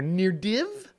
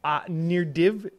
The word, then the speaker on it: Nirdiv: This is NDD, but that div at the end is like a stressed syllable, so it sounds like it's a triple D.